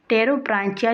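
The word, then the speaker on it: Pterobranchia: ये जो पेट्रोब्रांचिया मतलब इसका पी जो होता है वो साइलेंट होता है। बेसिकली इसको ट्रेरोब्रांचिया इसको कहा जाता है। टेरोब्रांचिया जो होता है वो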